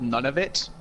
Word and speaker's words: Nunavut: have a It's Nunavut. pronounced exactly like none of it.